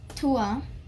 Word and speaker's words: toi: said which actually was toi which which is not by how you pronounce this you pronounce this word as tua so that's how you